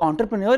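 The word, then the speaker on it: entrepreneur: होती है, लिखते हैं हम ई से, इसकी प्रोनाउंसिएशन ओ से होती है, ये इस तरह होता है ओ, एंटरप्रेन्योर, ठीक है।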